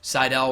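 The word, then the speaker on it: Sydal: evan bourne now known as men at sitel Seidel will help you pronounce it great show got to meet a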